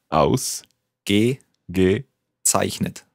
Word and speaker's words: Ausgezeichnet: Let's take it syllable by syllable. The first word, the first syllable? Aus. Gezeichnet. Zeichnet. Ausgezeichnet. Yeah, very good.